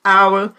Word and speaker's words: hour: Grave apenas essas palavrinhas, porque embora eles sejam escritos com H, né, a pronúncia dele, você não pronuncia o H. Você diz honest, hour, honor.